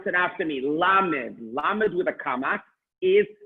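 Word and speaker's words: למד: Please pronounce it after me, Lamed.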